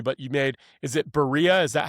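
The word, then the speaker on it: birria: But you made is it berea? Is that how you pronounce it? Ba pie. Yeah. B. Yeah, Bura.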